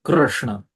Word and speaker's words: Krishna: So the exact pronunciation should be Krishna. The R should be extended.